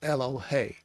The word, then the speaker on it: elohei: he lists only elohei which is not the plural like elohim it's ello hey so i thought she